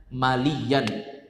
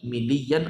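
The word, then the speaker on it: ملياً: Bacanya maliyan, bukan miliyan atau muluyan, tapi bacanya maliyan.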